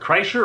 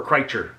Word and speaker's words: Kreischer: It's Bert Kreischer or Kreischer? Both. So Bert Kreischer. both are acceptable.